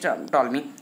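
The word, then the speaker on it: Ptolemy: आपके क्लॉडियस टॉल्मी। ये आपका पी यहाँ पर साइलेंट रहता है, तो क्लॉडियस टॉल्मी जो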